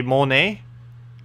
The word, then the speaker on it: Monet: A Monet? A Monet, not Monet. So basically money, but without the other syllable.